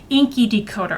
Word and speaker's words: INCI Decoder: my previous skincare videos is Inky Decoder. I think that's how you pronounce it.